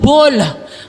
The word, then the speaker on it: Baal: Pag binanggit mo sa English depende kung anong bigkas, anong pronunciation depende kung English o British pag binanggit mo yung bal ay magtutunog ball.